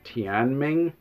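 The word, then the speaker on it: 天命: a chinese term um i believe it's pronounced tian ming i could be butchering that i don't speak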